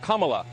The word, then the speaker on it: Kamala: fellow hosts on fox her name is pronounced comma like the punctuation mark look kamala okay seriously i've heard